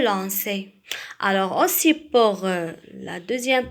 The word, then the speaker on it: lançais: Alors, lisez le verbe je lanquais. Alors, aussi, pour éviter de prononcer le son K, on va ajouter quelque chose. Alors, qu'est-ce qu'on va ajouter? On va ajouter CCD. Alors, je lançais.